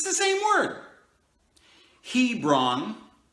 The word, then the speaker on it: Hebron: it's the same word Hebron the H is silent a bra are BA